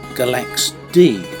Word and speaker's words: Galaxidi: About 18 miles from our last stop at Agio, the free marina, is Galaxidi, pronounced Galaxidi apparently.